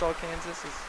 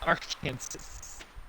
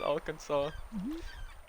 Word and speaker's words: Arkansas: line the all Kansas but it's not pronounce all Kansas oh yeah they're in Kansas Arkansas again why with the